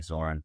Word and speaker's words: Zoran: Spalding sportsmanship award honore in the GBC was, and please correct me if I mispronounced this, Zoron Sabert. Yep. Call him Zoran.